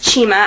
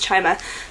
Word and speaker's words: Chima: Cinda Williams Chima, I've been saying her name wrong like all the time. I always say Cinda Williams Chima, but I'm pretty sure it's Chima now, so that will be rectified later.